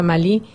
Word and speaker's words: Malí: antes de llegar a Malí, o a Mali, ¿verdad? La pronunciación francesa, española cambia un poquitito, pero bueno, es lo mismo.